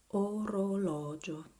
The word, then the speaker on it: orologio: That this O is different because you have the accent on this syllable. Orologio. Orologio.